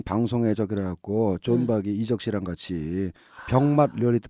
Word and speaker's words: 존 박: 존과 잔의 중간 발음인 거죠?